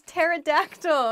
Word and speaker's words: pterodactyl: going to talk about words with weird silent letters i like the title of this one let's get started the first word is pterodactyl a pterodactyl is a